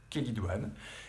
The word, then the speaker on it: chélidoine: chélidoine ça s'écrit celle idoine mais ça se prononce chélidoine c'est une petite fleur qui pousse partout dans